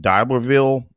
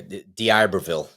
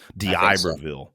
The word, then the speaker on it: D'Iberville: 24th through 26th, now I always screw up pronouncing this D'Iberville, Mississippi. Boy, I really screwed that up. Yeah, D'Iberville. D'Iberville.